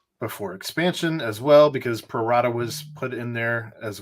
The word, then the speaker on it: pro rata: Prorata. Or at it. whatever. We all understand. Continue, Aaron. I think I said it right. Pro rata. You did say it right. Yeah, it's Latin, Ed.